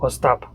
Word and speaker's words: Ostap: father say your name emphasis on the last okay so yeah so I'll stop or stop and actually that is a